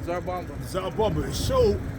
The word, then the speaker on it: Tsar Bomba: The T is silent. Tsar Bomba.